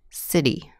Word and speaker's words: city: bottle in two syllables where tea or tea tea is surrounded by vowel sounds City matter and the second syllable is not stressed city matter the tea will sound like a D item auto writer baddest